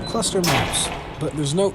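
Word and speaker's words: ClustrMaps: It's pronounced Cluster Maps, but there's no E.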